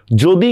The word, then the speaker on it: যদি: Same দেখেন, অন্তস্তীয় জ থাকলে আমাদের বানানে উচ্চারণে হবে বর্গীয় জ। যেমন আমি একটা শব্দ বললাম, দেখেন যদি, তো যদি এটা আমরা কিভাবে করব? জয়কার জ দরস্কার দিই। দেখছেন? বানানে অন্তস্তীয় জ থাকলেও উচ্চারণে বর্গীয় জ।